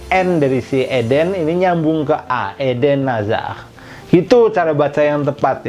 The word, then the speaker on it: Eden Hazard: Eden Hazard jadi NDC Eden Ini nyambung ke aeden Aza gitu cara baca yang tepat ya bukan kalau ide Nazar